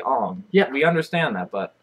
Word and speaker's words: Aang: And Aang is not pronounced Aang. It's really Ong.